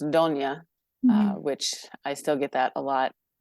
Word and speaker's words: Donnia: In Italian, it's pronounced Donnia, which I still get that a lot.